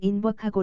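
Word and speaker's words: Invercargill: 인 버카 길에 갔는데 현지인은 인 버카 길을 인 버카 고 라고 발음했다 스코틀랜드 씩 발음인 듯했다 여기서 박물관과 아트 갤러리를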